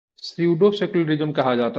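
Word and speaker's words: pseudo: धर्म निरपेक्षता ठीक है भारतीय धर्म विशेषता को सूडो सेकुलरिज्म कहा जाता है सूडो सेकुलरिज्म का स्पेलिंग होता है पी एस ई यू डी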